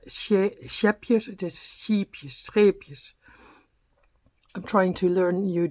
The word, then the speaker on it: Scheepjes: We have I think that's the most difficult thing in our language, the SCH, scheepjes, SCH. Yeah, we learn it at school very young. Scheepjes, you say, scheepjes.